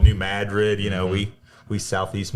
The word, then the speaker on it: New Madrid: It's just like Cairo, Illinois. They call it Cairo or New Madrid. Down south it's called New Madrid.